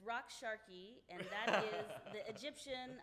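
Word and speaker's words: Raqs Sharqi: of the day will be two words it's rock Sharky and that is the Egyptian uh term for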